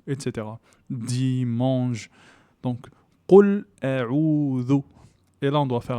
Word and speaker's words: أعوذ: Ici, nous avons un allongement naturel de deux temps. A'udhu. Le zel, c'est une lettre qui doit être prononcée donc avec la langue. Il faut que la langue touche les dents. Et c'est l'équivalent de the en anglais.